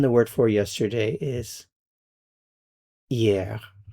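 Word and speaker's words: hier: And then the word for yesterday is yeah. You don't pronounce the H.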